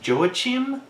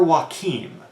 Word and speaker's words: Joachim: I've heard it pronounced Joachim, but I prefer Joachim, so I'm going to pronounce it Joachim.